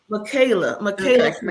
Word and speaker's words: Michaela: Chromebook, and little Miss Micaiah. Am I pronouncing it right? Was it Michaela? Michaela. Okay.